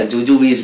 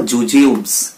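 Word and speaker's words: jujubes: ওটা জুজুবিস না, ওটার উচ্চারণটা আমরা ঠিক করব, কি বলবো? জুজিউবস।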